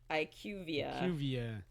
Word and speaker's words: IQVIA: IQVIA. Ikvia, yes.